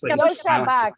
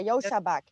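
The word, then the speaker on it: Joscha Bach: It's not Josh. It's Yashua. I know it's got a weird name. It's like J-O. Why? Like Yoshi. It's like Yosha. Yosha Bach. Yeah, Yosha Bach.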